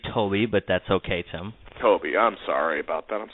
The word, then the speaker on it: Tobbe: let's get to it we're joined by Randy Taub our special guest today from realty commander and I'm probably not pronouncing that right so let me bring him